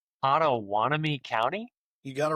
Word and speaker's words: Pottawattamie: because the county is a little interesting to pronounce, but it looks like Ottoanami County.